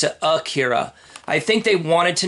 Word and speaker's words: Ikira: right here it's spelled ekira but they always pronounce it akhira I think they wanted to name this guy